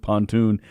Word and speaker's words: pontoon: the pronunciation pronunciation of pontoon he would rather the stress on the second syllable uh felix says pontoon